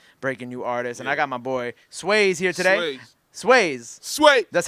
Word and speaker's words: Swaze: Nah, when sometimes if they say it wrong, like in a video or something, I'll be like, yo, bro, it's Swaze, man. It's, you know, everybody got Waze app, right?